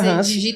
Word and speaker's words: Ransi: Mas fala Hansi, Hansi, correto. Isso. Pronuncia Hansi, maravilha.